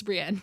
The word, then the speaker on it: Brienne: I'm like, yeah, it's Brienne, not Brian. Brian is not right. It's Brienne. Brian.